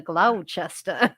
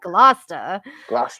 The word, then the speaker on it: Gloucester: like what the what the hell is a glow chester like it's gloucester you know we don't pronounce anything correctly out here so i'm constantly